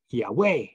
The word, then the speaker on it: Yahweh: Yahweh God pardon me Yahweh God because that's how you pronounce it in the Hebrew so his name is